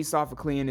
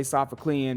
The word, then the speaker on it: Sophoclean: Shaq would say it but me I'm going to say sofha clean because it rhymes with started beef and and far from decent